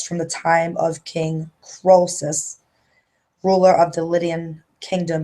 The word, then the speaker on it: Croesus: The curse of the, how you pronounce that? Croesus.